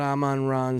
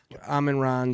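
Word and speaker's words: Amon-Ra: You got Aman Ron St. Brown. Who's going to That's not how you say it. Amen. Ron St. Brown.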